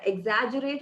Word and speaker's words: exaggerate: use that and in the word exaggerate was mispronounced as exaggerate i think the evaluator confused exaggerate and exuberant together and he's he uh brought him your word exaggerate exact and exaggerate so it's exaggerate so please try to